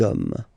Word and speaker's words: hommes: You don't pronounce it, so you get des hommes.